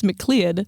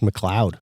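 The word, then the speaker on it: McLeod: In 1983 a professor from that college James Mcclead formed a crypto crypto. Wait, wait, wait. Sorry. I think that's pronounced mloud.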